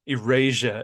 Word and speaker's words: eraser: but I will not iasia as they say it because they're British iasia we're like eraser eraser and and they say it like Eurasia right like European Asia Asiatic European border